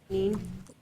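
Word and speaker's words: niin: I is the nin, jin, Oh, the double I's is a long E sound there. neen.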